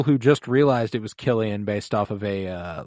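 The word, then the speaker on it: Cillian: saying his name wrong a lot of people think it's sillian but it is it is Killian hmm yeah because I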